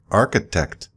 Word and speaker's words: architect: But then we talk about architect, another CH, but it pronounces like a K.